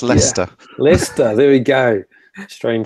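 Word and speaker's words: Leicester: well they will let you struggle Thomas it's Lester Lester there we go strain spelling in the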